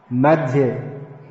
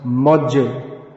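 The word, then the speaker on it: मध्ये: Madhye. So that become, in modern English mispronunciation, Madhye becomes Modje. The dhya, that sound, dhya, all becomes merged into a j, tar moje.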